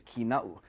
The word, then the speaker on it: Kīnaʻu: A lot of the times the name is mispronounced as Kīnaʻu or Kīnaʻu, but the appropriate pronunciation is Kīna'u.